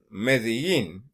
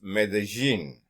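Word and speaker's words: Medellín: They pronounce the double L as a J, okay? Like Medellin to you, to a Colombian, it's Medellin, okay? As in gin, okay?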